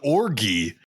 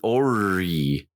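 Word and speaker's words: orrery: He wants to do something called an orgy. Jeez. No, the G is silent. It's an ori. Ori.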